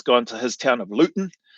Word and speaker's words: Luton: Um, but I've seen some of the footage where he's gone to his town of Luton, uh, Luton or but they don't pronounce the T and just how different